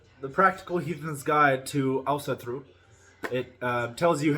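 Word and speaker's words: Ásatrú: one is called the Practical heathens guide to Elsa through it tells you how to pronounce it in this book and it's pronounced also through most people will not say it like that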